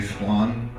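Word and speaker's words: Splawn: Swan, S-P-L-A-W-N, rhymes with Jan.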